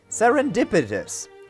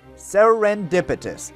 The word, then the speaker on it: serendipitous: the last episode there was a certain word sarin dipitus serendipitous that is how it's pronounced that word means the exact same thing